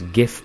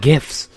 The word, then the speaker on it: GIF: It's sort of like the whole GIF controversy, except it's GIF because the G stands for Graphics Interchange Format, so not Giraffics, therefore GIF. Also, Obama has confirmed as much. Why am I talking about GIFs?